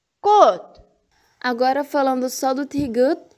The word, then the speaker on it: 꽃: As demais letras, quando estão sozinhas, como patim, têm som de T mudo. O som é simples e curto, como se nem tivesse sido pronunciado.